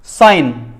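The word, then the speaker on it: sine: इसको हम बोलते हैं साइन। प्रोनाउंसिएशन आपको याद करनी पड़ेगी, ये सिन नहीं होता, साइन होता है।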